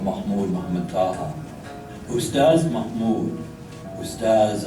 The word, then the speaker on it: Ustaz: Ustaz Mahmud, Ustaz, an honorific in the Sudanese Arabic pronunciation of the word for teacher, often visited Abu Haraz